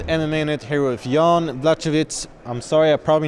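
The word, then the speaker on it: Błachowicz: Sebastian Miller Martinez, MMA Net, here with Jan Blachowicz. I'm sorry, I probably mispronounced your name. You can say it for real. Blachowicz.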